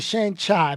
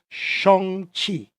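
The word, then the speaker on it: Shang-Chi: theaters only shong chi i've been saying shane chai my whole life his name if the correct pronunciation is shong chi wow anyway nobody corrected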